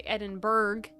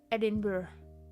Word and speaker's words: Edinburgh: Uh and then I want to say Edinburg cuz I'm American and there's a G in it. However, that's not how it's said. And you have to like Edinburgh.